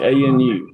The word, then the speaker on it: Anu: Anu, like A-N-U, like Anunnaki.